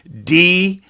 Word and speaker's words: Deaconx: Deaconx. Pronounced Deacon X.